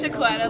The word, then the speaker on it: Shaquetta: My name is Shaquetta. It's Shaquetta, like it don't get no better than Quetta if you have a hard time pronouncing it.